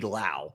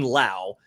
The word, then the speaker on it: Lowe: The note in here is the pronunciation rhymes with now. So Brandon Lau, Nathaniel Lowe, Josh Lowe.